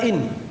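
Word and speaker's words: إن: Yang pertama dari alat-alat yang menjazam dua fiil ini adalah in. Cara bacanya di kasrah hamzanya dan disukun nunnya in.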